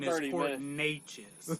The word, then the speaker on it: Neches: No, we start at 7, and the proper pronunciation is 30 Port Neches, not Netches.